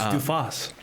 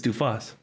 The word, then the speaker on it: Dui Fawx: It's Dui Fawx. Dui Fawx? It's Dui Fawx.